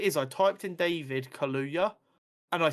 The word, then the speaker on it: Kaluuya: Spider-Punk, who's going to be voiced by David Kalua. I feel like I completely butchered that name. I'm so sorry. I think that's his last name. I don't think that's his first name. It's David Kaluuya. Kaluuya.